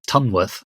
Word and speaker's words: Tunworth: of these so Trum well no it's ton worth I'm tempted to go